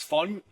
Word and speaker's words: von: Like so von, V-O-N is fun, so it's from.